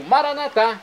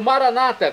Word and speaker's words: Maranatá: E agora eu clamo, Maranatá, como dizemos nós católicos, ou Maranata, como dizem nossos irmãos separados, os evangélicos ou protestantes. Não importa a pronúncia, o significado é o mesmo.